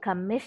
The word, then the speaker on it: commit: Cái chữ này mình nhấn âm 2, đúng rồi. Commit, động từ nhấn âm 2.